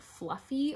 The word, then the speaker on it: Fluffee: So it is huge, and it is Bernat Fluffy, fluffy spelled with 2 E's at the end, because you know, gotta make it trademarkable.